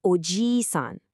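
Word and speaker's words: おじいさん: A grandfather is ojiisan with a long e sound, and an uncle is ojisan with a short i.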